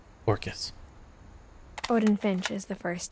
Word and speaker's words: Orcas: They pronounced it correctly. Orcas.